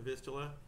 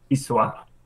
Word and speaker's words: Wisła: from Poland on the I'm going to mispronounce this, and I'm not going to say it right in the Polish way. The Wisla River, the Vistula in English. Wisła.